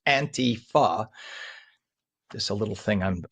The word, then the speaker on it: Antifa: It's Antifa because it's anti-fascist. So it's pronounced Antifa. Just a little thing on my part. Every time I hear people say Antifa, like it's a European word.